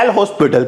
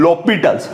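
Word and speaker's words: L'Hôpital: समझ में आया की इसको डिटेल नहीं बोलते यहां पर जो है वो साइलेंट ये वो बोला जाता है लो पिट क्या बोला जाता है lopitals ये प्रनंसीएशन वाली बात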